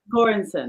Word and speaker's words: Göransson: Pronounce it for me. I know you're an expert. Ludwig Göransson.